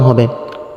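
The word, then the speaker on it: ه: মাঝে কিছু সময় মুখ খুলে থাকবে, আওয়াজ নরম হবে। ওয়াও ওয়াও। হা, এই হরফটি কণ্ঠনালীর শুরু থেকে উচ্চারিত হবে, 1 আলিফ পরিমাণ টান হবে।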